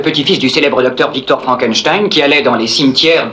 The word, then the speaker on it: Frankenstein: Docteur Frankenstein. Mon nom, monsieur, se prononce Frankenstein.